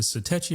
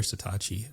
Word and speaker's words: Satechi: How do you pronounce it? Is it Satechi or Satachi?